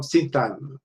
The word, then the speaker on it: syntagm: Okay, so syntagmatic comes from syntagm. G is actually not pronounced. Let me just check the yes, somebody else. Okay. So G is not pronounced, but syntagm means phrase.